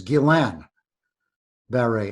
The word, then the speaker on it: Guillain-Barré: so first of all the the proper pronunciation for everybody not no one in particular is Gillan berry and the reason I